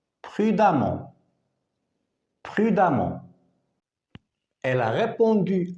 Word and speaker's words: prudemment: préférable de conduire prudemment attention on écrit e et on prononce a prudemment prudemment elle a répondu